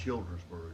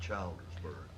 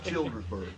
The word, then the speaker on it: Childersburg: Pronunciation is Childersburg, not Childersburg. My You apologies. you've I did already not know said this. It's Childersburg.